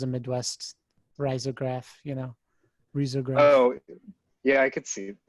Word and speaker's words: risograph: keep doing this it's i guess it's technically pronounced risograph hey where are you